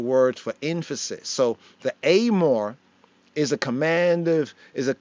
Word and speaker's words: Emor: Some might read as amore, amore, but the pronunciation of pointing is amore.